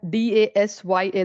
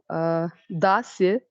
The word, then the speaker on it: Dasya: 7th point is Das, or you can spell it as D-A-S-Y-A, Dasya.